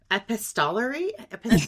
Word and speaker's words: epistolary: I can't even say the word epistolary. How do you say it? Epistolary, yeah, like an epistle.